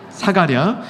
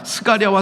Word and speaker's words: 사가랴: 사가랴. 스가랴와 사가랴는 어떻게 다르냐? 그냥 비슷하다 보시면 좋습니다. 그래서 뭐 같은 발음이다 이렇게 보시면 됩니다.